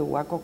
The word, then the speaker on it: Boaco: Y nosotros somos un departamento, el departamento de Boaco con sus municipios. Y dos, ni a veces no lo pueden ni escribir ni pronunciar, dicen Boaco, con U, Boaco.